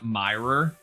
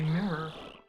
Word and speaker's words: Mirror B: Also, I heard someone pronounce Mirror B's name Myra, and I was like, just unspeakable anger. Yep. It is very clearly Mirror.